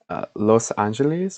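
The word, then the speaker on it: Los Ángeles: I also I know like in Spanish, Los Angeles is pronounced like I don't speak Spanish. Los Angeles or something like that.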